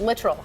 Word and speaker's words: Littrell: and he told you he corrected me on the way to pronounce it literal yes yes I'm glad